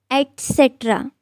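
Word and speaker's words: et cetera: It's etc. or etc. with a T sound and not X.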